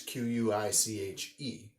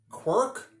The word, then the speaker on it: quiche: help because i'm like it's not spelled like it sounds it's q-u-i-c-h-e and without missing a beat he goes quirk like yeah that quark that's i've been saying quiche for five minutes but it's quirk so my family and i